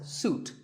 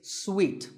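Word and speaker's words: suite: second syllable so Hotel a related word is sweet this means a set of connected rooms in a hotel and this is wrongly pronounced by many people as suit but it's sweet like when you eat a piece of candy sweet and while we're on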